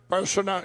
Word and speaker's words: Bolsonaro: Bolsonaro, if I say it right, how do you say it?